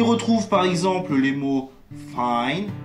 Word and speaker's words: find: Le I se prononce I lorsque suivi de ND ou de GN en fin de mot, et le cas échéant, le G disparaît.